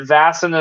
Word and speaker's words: Vaesen: you know um all sorts of stuff but vason is the correct pronunciation and that is how it will continue to to say it so um now vasen in um Sweden is kind of like a